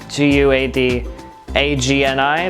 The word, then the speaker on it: Guadagni: mentioned at one point my last name is guidani guad agni the last four is agony agni you pronounce it ani in italian but a g and